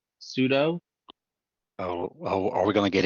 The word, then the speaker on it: sudo: the mispronounced show oh it's not SoDo sudo oh are we gonna